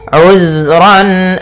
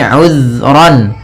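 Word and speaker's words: عذرا: Kemudian ayat selanjutnya, uzran aw nuzra. Di sini uzran, hati-hati dalam pelafalan zal, usahakan di sini jangan sampai memantul, jangan uzra itu ya, tapi uzran.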